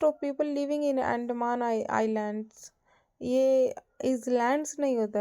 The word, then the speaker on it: आइलैंड्स: For example today उदाहरण के लिए आज most of people living in Andaman आइलैंड्स। यह इज़लैंड्स नहीं होता है स्टूडेंट्स। ये आइलैंड्स होता है। इसमें इज़ एस साइलेंट होता है।